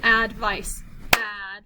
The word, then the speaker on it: advice: consonant so let's do advice okay so so in this word there are three in this word there are three vowel letters but only two syllables that's because the e is silent so we have a